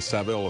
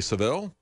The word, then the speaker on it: Savile: The person who embodied that probably the most there was uh Jimmy Savile and uh or Savile, we should say. Uh that's I keep going back to the American uh pronunciation of it.